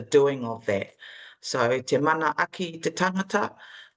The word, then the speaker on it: manaaki: The manaaki.